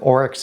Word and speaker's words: Oryx: And I got sent a picture of an antelope, which I knew that's what the orex is a breed of um antelopee. So, and that's how you pronounce it, orex.